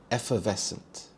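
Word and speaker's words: effervescent: Here the stress is on the second syllable. Ves. Effevescent.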